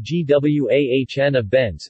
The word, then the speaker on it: Guanabenz: Guanabenz, pronounced G-W-A-H-N-A-Benz, sold under the trade name Witensin, is an alpha agonist of the alpha-2 adrenergic receptor that is used as an antihypertensive drug.